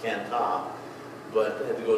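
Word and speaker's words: Cần Thơ: Could not get a flight from there directly into the town where Hai lived, the town of Can Tho, where they would pronounce it Can Ta.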